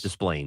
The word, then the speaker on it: Des Plaines: So Des Plaines, Illinois. Yeah. The winning ticket was bought in Des Plaines, Illinois, which is north Is that how you of say it? Yes. Des Plaines.